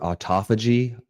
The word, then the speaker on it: autophagy: You also start and I'm not 100% how to say the word autophagy. Autophagy auto like automobile ph agy which is on a cellular level your body begins to repair itself.